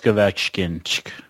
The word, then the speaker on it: Ovechkin: Like when you look at Washington, Alex Ovechkin.